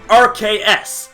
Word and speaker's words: RKS: RKS. Arceus. Notice the similarities in pronunciation here, and what RKS